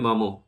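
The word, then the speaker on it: Maugham: এখানে উচ্চারণ খেয়াল রাখবেন মঘাম নয়। উচ্চারণ হবে মমো।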